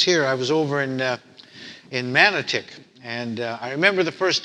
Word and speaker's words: Manotick: times I was here, I was over in Manotick, and I remember the first time actually coming up this way, and we were actually going to Manotick, and I was driving with this other young priest.